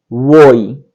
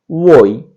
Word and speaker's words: voi: उसके लिए होगा वोई, VOI, वोई, इसको पढ़ेंगे वोई।